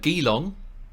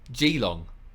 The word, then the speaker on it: Geelong: it and also um your pronunciation of uh gilong yes we referred to as Geelong there you go there